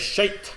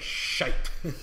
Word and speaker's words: shite: And you got to pronounce the T. It was shite. It was shite.